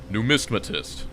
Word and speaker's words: numismatist: Numismatist.